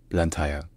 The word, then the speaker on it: Blantyre: British colony it's sometimes maybe more common to hear the British pronunciation which is blanta BL BL BL TI